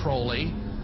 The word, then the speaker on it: Crowley: have his name pronounced Crowley to rhyme with holy and the satanists today